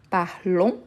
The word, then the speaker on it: parlons: parle parle parle parle parlon je ne prononce pas le S parler c'est comme le